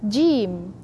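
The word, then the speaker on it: ج: We move to jim, jim. Don't say ji, ji, jim. And don't say jim, like it's, you press too much. Just in between. With the tongue, in the middle of the center of the tongue, help us to pronounce harful jim.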